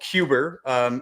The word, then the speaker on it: Quber: It's called Cuber. If you see how it's spelled Quber, it kind of mixes QBR and Uber into one word.